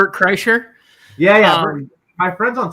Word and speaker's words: Kreischer: Cola Florida is uh Bert Kershaw I can't pronounce it Kreischer yeah yeah my friends